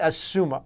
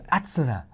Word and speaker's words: Asuna: And Asuna. Asuna. Kirito. No, it's Atsuna. Oh my You gotta say it like the Japanese version.